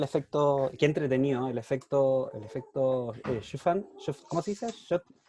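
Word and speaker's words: Schüfftan: sí, solo para complementar el efecto, qué entretenido, el efecto Schuftan, ¿cómo se dice? Schuftan.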